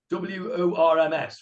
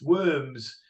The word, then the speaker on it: Worms: He lived in a place called Worms, W-O-R-M-S, Worms. It's pronounced Worms.